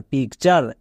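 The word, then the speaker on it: picture: আর ই চার কালচার পি আই সি পিক টি ইউ আর ই চার পিক চার তাহলে টি এর জন্য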